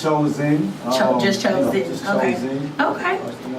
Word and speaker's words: Choz1n: It's Choz1n. Just Choz1n. Just Okay. Choz1n. Okay.